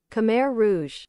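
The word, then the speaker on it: Khmer Rouge: So, I was saying it right. I was saying it right because every time anyone says it differently like you did, Matthew, it makes me think, wait a minute, am I sounding stupid? Am I saying that wrong?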